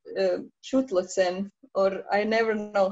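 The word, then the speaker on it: Chthulucene: how to pronounce uh shoot lesson or i never know how to pronounce it properly it's a it's a silent ch so it's thu so it's thuncine okay yeah okay i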